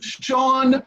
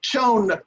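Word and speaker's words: Chone: puts not putts and it's john figgins not shown figgins three the etymology and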